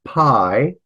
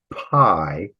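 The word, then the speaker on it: π: We're going to pronounce it P. So this one, if you recognize that as pi, we'll call it P, that might be helpful.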